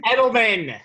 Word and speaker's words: Edelman: he's established a connection with julian with julian pronounce it correctly for me rabbi edelman thank you they hooked up for 16 completions